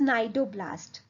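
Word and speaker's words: cnidoblast: सी silent है, इट्स नाइडोब्लास्ट।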